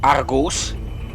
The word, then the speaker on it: Argus: uh through this Hall as Argus which is the proper pronunciation of his name remember the English version